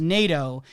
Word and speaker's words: Naido: point of pointing out how Lynch pronounces naido as NATO and using that to